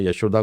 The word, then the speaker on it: यशोदा: उनकी जो प्रोनाउंसिएशंस है, उसमें यशोदा को यो यशोड़ा बोलते हैं, यशोदा बता।